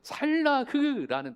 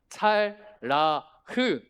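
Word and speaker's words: צלח: 모양은 다음 피 형통한 할 때 찰라흐라는 단어예요. 찰라흐 이럴 때 한 마디라도 좀 원어 좀 배우면 좋죠. 원어 뭐 발음이 찰라흐 한번 해 보실까? 발음도 어렵죠. 시작. 잘라흐.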